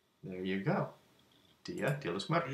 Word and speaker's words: Día de los Muertos: How do we pronounce that? There it is. Spanish, Dia de los Muertos. Día de los Muertos. There you go. Dia de los Muertos. Día de los Muertos.